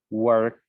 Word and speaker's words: worked: número 1, es que cuando hay un verbo terminando en un sonido que es voiceless, como k, el pasado se va a pronunciar como el sonido t. Entonces, yo digo work en presente, worked en pasada.